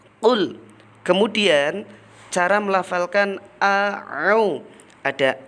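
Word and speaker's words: قُل: Anak-anak, yang pertama perhatikan kata qul. Kata qul itu berbeda dengan kul. Kalau qul itu menggunakan qaf, betul. Kalau kul itu menggunakan kaf. Jadi bacanya qul.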